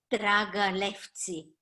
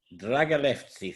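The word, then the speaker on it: Драгалевци: Dragalevci. Dragalevci, thank you.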